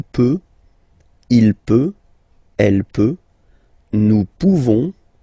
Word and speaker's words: nous pouvons: Nous pouvons, okay? You don't pronounce the final S.